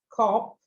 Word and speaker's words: cop: Aí esse cop, você vê que escreve com O, mas esse O é pronunciado da mesma maneira que a gente fala. Love, God, cop. Love, God, cop. Essas três palavras, assim, outras palavras a gente fala assim também, mas essa é a pronúncia. Então, não é cop, não é love e não é God.